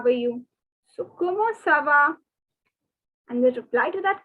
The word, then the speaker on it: comment: see the commode word c-o-m-m-e-n-t you have already learned in the previous question so don't make the mistake of saying comment or any other pronunciation no it is como cuomo so como next two